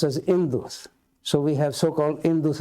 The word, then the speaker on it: Indus: And then when this word is written in Greek, H is written, but it is not pronounced. So it is pronounced as Indus.